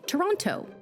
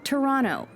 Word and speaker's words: Toronto: there's one more thing a Surefire way to let on that you're a tourist is to say Toronto locals say Toronto they don't pronounce that second tea you can even get